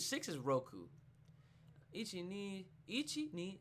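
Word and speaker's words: 六: to say six I think it's six is Roku Ichi knee each eat knee son she go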